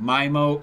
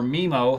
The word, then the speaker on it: MIMO: wave 1 certified with 4x4 mimo or memo however you want to pronounce it with future proofing for wave 2.